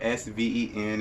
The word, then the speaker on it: Sven: Sven claws, or I call them sevens, but it's spelled S-V-E-N. It's Sven claws.